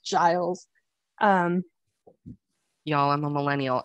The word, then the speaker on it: Giles: rupert why rupert rupert giles oh yes giles it's pronounced giles um y'all i'm a